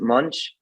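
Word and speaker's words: Moench: name's Jenny last name's I think you pronounce it Munch and I believe it's spelled m o e NCH and uh she's an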